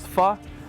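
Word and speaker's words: phở: Le pho, ça se prononce pho, c'est la meilleure soupe que j'ai jamais mangée, puis c'est un produit du Vietnam.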